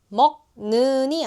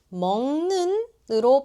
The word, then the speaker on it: 먹는: 먹는이 아니라 먹는으로 발음돼요.